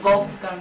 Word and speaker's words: Wolfgang: It's pronounced Wolfgang in English, right. but it's Wolfgang in German.